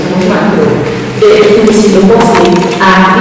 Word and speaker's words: Huitzilopochtli: Y más o menos lo podemos pronunciar, a lo mejor aguantando no se le pronuncia muy mal, pero de Huitzilopochtli a Huitzilopochtli, Huitzilopochtli, como dice Cortés, pues hay bastante distancia.